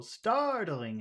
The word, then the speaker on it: startling: words Muhammad startling him what do you think is the big sound in that phrase startling him startling the first startling that's right the first syllable startling him and and him